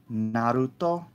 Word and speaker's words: Naruto: you are fans of Naruto Naruto as it is properly pronounced but ah yeah there's